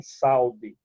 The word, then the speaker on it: saúde: Saúde, se eu deixar o U ao lado da vogal A, ele se torna semivogal, mas na pronúncia ninguém vai dizer que a pessoa tem saúde. A pessoa tem saúde, né?